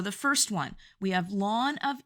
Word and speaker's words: ln: is this here and it's pronounced lawn X and it stands for the logarithm naturalis so instead of writing log base e you're now just going to write lawn and this is the